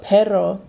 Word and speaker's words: perro: wave once enzo um if there's an r it's pronounced like you use your tongue to hit like the roof of your mouth like for example pero means but but perro pero i don't want to